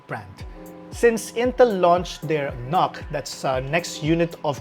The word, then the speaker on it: NUC: bears intel's iconic brand since intel launched their knock that's a next unit of computing pronounced like lock these are their small form